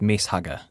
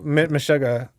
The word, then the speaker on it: Meshuggah: I've got a text in saying nowhere near as good as Mess Hugger. Okay, well, Meshuggah.